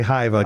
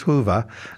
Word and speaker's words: Hyvä: People people want to say Hiva because the way it's spelled but it is Hoover.